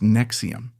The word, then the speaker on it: NXIVM: After his pyramid scheme collapsed, he reemerged with his co-founder, a therapist named Nancy Saltzman, and created NXIVM, pronounced Nexium, the parent company for ESP.